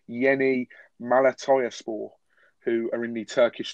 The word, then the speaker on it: Yeni Malatyaspor: And I think this is my best stab at pronouncing this correctly, but it's Yeni Malatyaspor, who are in the Turkish top flight.